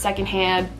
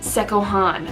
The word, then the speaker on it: secondhand: looks like one thing, you would think that this is pronounced secondhand, that's where you'd be wrong. This is going back to English as a second language thing. This is actually pronounced sekohan. This actually stemmed from my great-grandmother, again, very much so English as a second language, more so than my grandma. She read this with her very thick accent and pronounced it sekohan, and it just kind of stuck.